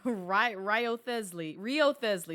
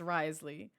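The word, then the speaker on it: Wriothesley: It's like Rio Thesley, excuse me. Rio Thesley. For the longest time, that's what I thought his name was pronounced. It's Risley.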